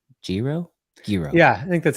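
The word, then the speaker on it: Giro: you're here because I was butchering this name, Jiro. Yeah, I think that's how you say it. Jiro.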